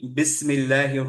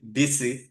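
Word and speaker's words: بسم الله: আমি যদি পড়ি বিসি, বিসমিল্লাহি, ইজ it correct? No, বিসি নো। না। হচ্ছে না, কারণ কি কলকলা চলে আসলো, রাইট?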